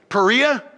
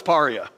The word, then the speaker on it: Paria: we went over here by the Paria am i pronouncing it right Perea see I asked like three people how do you pronounce that is that Perea and they said no it's Paria I've been seeing Perea for years okay so now